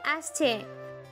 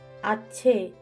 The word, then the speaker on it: আসছে: ফাটাফাটি হয়ে গেছে, এবার বলুন আসছে। আছে। আরে আবার ছ উচ্চারণ করছেন কেন? বলুন আসছে।